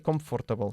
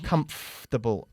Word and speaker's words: comfortable: Muy bien, pero no se dice comfortable, sino comfortable. Casi omitimos el sonido de OR en medio.